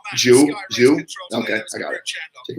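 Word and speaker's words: Zhou: That's pronounced Jew.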